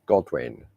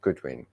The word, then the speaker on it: Godwin: You know, sometimes you get a block on the name, and I always pronounce Eileen's surname wrong. It's Godwin, not Goodwin, Godwin.